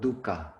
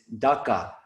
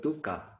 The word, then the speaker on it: dukkha: on the word dukkha please note the pronunciation we all be aussies have a tendency to pronounce it dhaka which is like a dry dip that we mix olive oil and drip out bread and dip our bread into it's like a dip it's not dhaka it's dukka but speaking